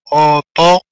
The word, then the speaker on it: Otoño: لاحظوا هنا Otoño. نيو نيو أني نيو بعدها أو تنطق دائما أو كالا أو Otoño.